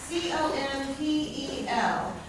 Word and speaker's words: compel: Which one gets the emphasis? Pell gets the emphasis. Okay, and where do I divide the syllables? Between M and P. You'd say come, pel. Come, pel.